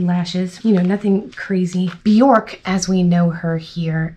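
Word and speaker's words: Björk: Bjork is the proper way to pronounce it.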